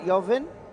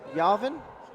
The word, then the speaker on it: Jauvin: How you say it? Jauvin? Jauvin? Jauvin.